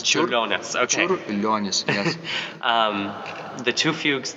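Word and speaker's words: Čiurlionis: CH uh how do you say his name chonus chonus okay chonus yes um the two fugues that we that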